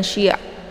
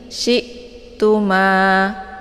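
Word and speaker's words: شئتم: Cara bacanya syi-nya ditekan sedikit saja ya, dan bacaannya adalah tipis, jangan syi' ya, tapi syi'tuma bukan syi' ya. Jangan sampai hamzah ini dibaca terpantul ya.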